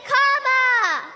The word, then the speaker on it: Kamala: First, you say comma like a comma in a sentence. Then you say la like la la la la la. Put it together, and it's 1, 2, 3.